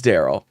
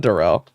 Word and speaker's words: Daryl: Also, I found out it is Daryl. It's not Darrell. I listened to him say it the other day. It's Pharrell.